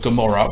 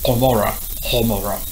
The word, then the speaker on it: Gomorrah: An example of that is the word Gomorrah, which is actually Homora.